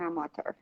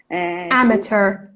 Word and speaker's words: amateur: Lucy loves playing tennis, but only as an amateur. Amateur Amateur. She or never amateur. It has two pronunciations.